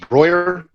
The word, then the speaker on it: Broihier: Yeah, it's pronounced Broihier.